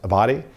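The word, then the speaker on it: Abbate: uh the one of the deputies for direct former director Ray Paul I believe is pron name is pronounced abati uh he was the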